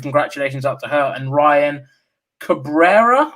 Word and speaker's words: Ryan Cabrera: out to her and ryan cabrera i believe is how you pronounce his name ryan cabrera so um massive congratulations